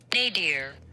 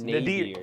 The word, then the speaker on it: nadir: Nadir. Nadir. Nadir? Is it Nadir or Nadir? Nadir. Nadir. Nadir. N-A-D-I-R. But it's pronounced nay.